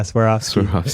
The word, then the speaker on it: Swarovski: Swarovski. Is that how you say it? Yeah, Swarovski.